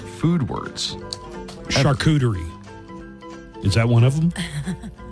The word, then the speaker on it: charcuterie: charcuterie. Okay. Just say it correctly. Relax your mouth ever so slightly. It's a French word, after all. And let it slide right out as charcuterie.